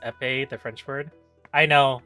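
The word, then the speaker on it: épée: afford two vulner also I believe EP is pronounced epe the French word I know I just think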